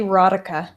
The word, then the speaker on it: Rodica: Rosie Rodica. Like erotica without the E.